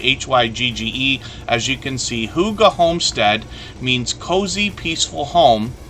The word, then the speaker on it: hygge: hygge which is is how we pronounce this word as if it was h-o-o-g-a but it's actually h-y-g-g-e as you can see Huga homestead means cozy peaceful